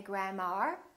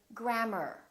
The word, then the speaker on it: grammar: she's a good teacher a R as in words like grammar don't say grandma say grammar or ei R for